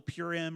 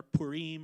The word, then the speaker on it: Purim: and if you know purim or purim or however you want to pronounce it they still celebrate that